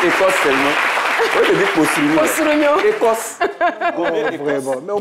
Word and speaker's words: Kossourignon: Alors, j'aimerais savoir, entre Boa, Désiré Martial et Kossourignon... Ok. T'as bien prononcé.